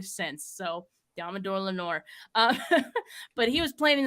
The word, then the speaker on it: Lenoir: after the draft, and I pronounced it Lenoir. His last name Lenoir. I was like, it's French. Right? So after that, I was corrected, and I've never said his name wrong since.